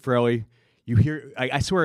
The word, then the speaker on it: Farrelly: Yes, Farrelly.